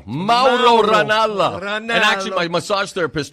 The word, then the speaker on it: Mauro Ranallo: It's Mauro Ranallo.